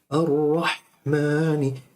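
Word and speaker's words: الرَّحْمَٰنِ: Ha is a whispering letter. Ar-Rahmani, it whispers. It comes from the middle of your throat. You say Ar-Rahmani, it's not Rahmani. It's Rah, ha, not ha.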